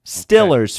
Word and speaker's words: Steelers: Stillers fan is how you say it if you're a Steelers fan.